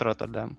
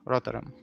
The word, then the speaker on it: Rotterdam: Rotterdam, no, not Rotterdam, Rotterdam.